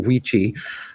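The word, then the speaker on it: wicce: Like Wicha is how you say it when you're talking about a man. Wiche is how you say it, or Wichi, when you're talking about a woman.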